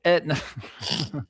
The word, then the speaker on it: Aetna: So it's just spelled differently. The A doesn't. It's silent.